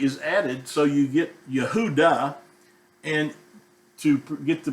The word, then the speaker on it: Yehuda: Judah is the way people pronounce it in English, but in Hebrew it would be pronounced as Yehuda. Now, not Yehuda, it's Yahuda.